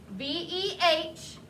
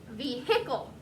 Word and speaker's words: vehicle: word in my head i think vehicle because that tells me don't forget that silent h vehicle some people's accents they do say the h especially in the south